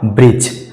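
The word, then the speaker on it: bridge: के बाद जी आया तो इसका सही उच्चारण हो जाएगा ब्रज ब्रिज आगे है फ्रेंड्स एच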